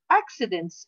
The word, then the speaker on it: accidents: on the stairs again accidents at home come on be careful how to pronounce this word accidents the first c is a pronounced ke the second c is pronounced accidents accidents at home most